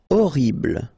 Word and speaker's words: horrible: Horrible. Okay, first letter is H, but then we don't pronounce H, so you don't pronounce it. And the first thing you hear is O, horrible.